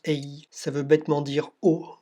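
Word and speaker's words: IJ: Petit demi-tour au-dessus de la rivière Ey, qui s'écrit I-J, ça se prononce Ey, ça veut bêtement dire eau en néerlandais.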